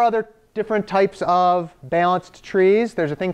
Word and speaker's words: trie: named, I think, because you might want to pronounce it tree, but it's a type of tree that's called a trie. And the guy who created the trie, I believe he actually named it tree, like wants it to be pronounced tree, and then everybody's like, that's silly, we've already got those. And he goes, well, I don't care anymore. And then now we just call it tries and whatever.